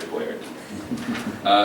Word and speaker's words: Boiardi: His name is pronounced a little differently. It's Hector Boiardi.